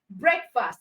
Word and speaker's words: breakfast: they are compound words, just know that the stress is on the first part of the word. And the first part for football is foot. The first part for breakfast is break.